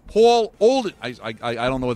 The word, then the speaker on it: Paul Olden: and he's like no you're mispronouncing it's paul olden paulden he's like say my name right it's paul olden i i i don't